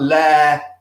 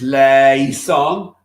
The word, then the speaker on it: eleison: And be very careful about le-i-son. Sometimes it's le-son. It becomes one sound, effectively le-son. And other times it's le-i-son. If you've got an individual syllable written out, a single I on a quaver or whatever it is, then we sing it.